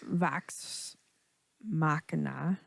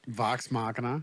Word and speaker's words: Vox Machina: night get to finish vax Machina is that how they say it Vox Machina yes okay uh it's a